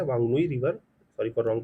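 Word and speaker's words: Whanganui: River is दी वांगुई, Vanga गुई river है, वांगनुई river, sorry for wrong pronunciation, वांगनुई river है।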